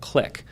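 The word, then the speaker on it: Qlik: So we began using a platform, a business intelligence platform called Click, spelled with a Q, that allows us to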